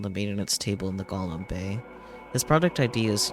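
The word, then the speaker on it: GOM: is of course G golum much to his surprise this ends up being pronounced like golum anyway on a side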